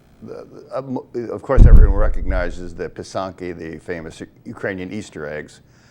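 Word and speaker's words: pysanky: Of course, everyone recognizes the pisanki, the famous Ukrainian Easter eggs, but the Thank you for, would you pronounce that again, Walt? pisanki.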